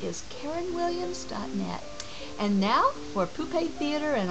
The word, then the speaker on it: poupée: And now for Poupée Theater and all the poupées, puppets you could call them, but I like the French pronunciation better.